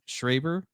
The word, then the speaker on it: Schreiber: It's Schreiber, I think it's pronounced, but it's Levi Schreiber's brother.